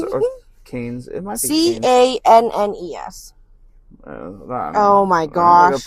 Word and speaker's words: Cannes: Well, It's Cannes. Yeah, according to Google, it is canned. Cannes. All right. Well, you don't pronounce the S, it's just canned.